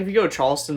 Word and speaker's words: Charleston: say charleston really weirdly charleston yeah i don't say the r because that's how it's pronounced sure that's okay that's